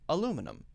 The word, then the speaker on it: aluminum: British people say aluminium. Americans say aluminum.